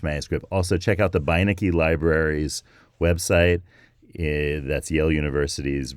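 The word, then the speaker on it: Beinecke: into the voyage manuscript also check out the biniki libraries website that's Yale University's rare books and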